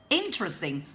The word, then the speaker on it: interesting: Interesting, please remember the pronunciation of the word. It's interesting, interesting, and don't pronounce the word as interesting, okay, like most Vietnamese people often mispronounce it.